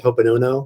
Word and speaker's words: Ho'oponopono: I'm really excited to go over some custom, because he can send intentions, almost like the Ho'oponopono. Am I saying it right? Mm-hmm. Ho'oponopono program.